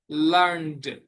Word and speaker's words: learned: learn, learn, learn, learned, learned, learned, শেখা। এখানে টি উচ্চারণ না হয়ে ডি উচ্চারণ হবে।